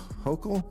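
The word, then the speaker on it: Hochul: Uh, what do you New Yorkers think of how Mayor Eric Adams and Governor Kathy Hokll yes? Yes, he pronounced it right.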